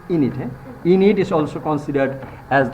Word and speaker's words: Aeneid: And his Aeneid, pronunciation is Aeneid.